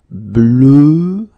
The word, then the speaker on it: bleu: Okay, previously it was bleu, so really, really deep, bleu.